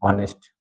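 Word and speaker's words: honest: कुछ वर्ड्स जिनके first letter H होता है। एच का जो साउंड होता है साइलेंट होता है। जैसे मान लो ऑनेस्ट है ना एयर आर ऑनर ये वर्ड्स तो यहां एच क्या है?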